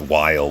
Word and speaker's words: Weil: I've always called him Well, but I guess it's pronounced Weil, which would make a lot of sense considering what his original Japanese name is.